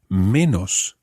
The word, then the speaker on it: menos: In Spanish, the word for less, the opposite, obviously, of more, is menos. And that's spelled M-E-N-O-S.